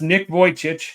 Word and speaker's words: Nick Vujicic: All right, but that's Nick Vujicic. It's a weird spelling, but that is how you say it.